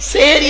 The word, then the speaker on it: সাহারি: আর সাহারির পার্থক্যটা কি সিনে জের দিলে সেহরুন মানে হলো জাদু করা কোরআনে আছে হাদা সেহরুন মুবিন সেহেরুন মানে জাদু করা আর সিনে জবর দিলে দন্ত আকার দিলে সাহারুন মানে হলো রাতের শেষ অংশের খাবারকে আরবিতে সাহারি বলে তাহলে শব্দটা কি হবে